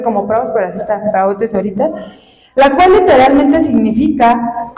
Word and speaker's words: praotes: Esto se traduce de la palabra griega praotes, con acento en la O. Se traduce de la palabra griega praotes, P-R-A-O, tiene acento, T-E-S, praotes o praos.